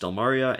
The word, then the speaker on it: Stelmaria: And then it's the FYI, it's pronounced Stelmaria, and I'm male.